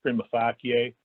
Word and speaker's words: prima facie: The other types of speeds are prima facie and absolute. And prima facie speeds, again, prima facie, it's a Latin term pronounced prima facie.